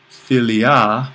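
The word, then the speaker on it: φιλία: Once we get over here to friendly, and we have philia, that's a long alpha, accent on the iota.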